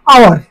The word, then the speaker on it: hour: অ্যান আওয়ার, HOUR, ঘন্টা, এখানে এইচটা উচ্চারণটা হয় না, আওয়ার হয়, তাইলে এখানে ওই অ্যান বসে।